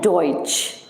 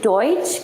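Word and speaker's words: Deutsch: इस वर्ड को हम जर्मन में बोलते हैं डॉइच. डॉइच का मीनिंग होता है जर्मन लैंग्वेज. डॉइच का मीनिंग होता है जर्मन लैंग्वेज. बट अब अगर मैं आपको ये बोलूं कि आप मुझे डॉइच का स्पेलिंग बताइए जर्मन में, ओके?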